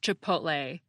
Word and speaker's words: chipotle: Let me say unequivocally that the word is pronounced chipotle. That's lay as in rhymes with play, clay, tray, and so forth.